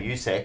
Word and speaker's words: Usyk: Is that how you say Usyk? Yeah.